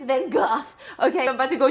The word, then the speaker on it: Van Gogh: I don't pronounce Van Gogh. I know it's Van Gogh.